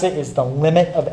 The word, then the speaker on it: lim: describe what's happening is this notation it says l i m it says f of x and that's pronounced the limit of f of x remember